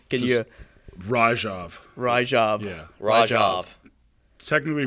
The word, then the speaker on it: Ryjov: is the like pronunciation.